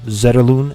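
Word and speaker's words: Zetterlund: Colin graph maau grin Fabian zedin as you know him or Fabian zeron as he pronounces himself are on that top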